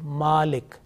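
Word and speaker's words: مَالِك: So this is basically malik. And in order to prolong the meem sound, you have a vertical fatha on that one, and it is a malik.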